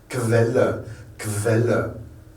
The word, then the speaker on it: Quelle: Vous voyez, du K-U, ça devient un KV, donc on prononce Quelle.